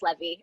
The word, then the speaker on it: Levy: You can find me uh, and also I just was pronouncing her name completely wrong. It's Levy.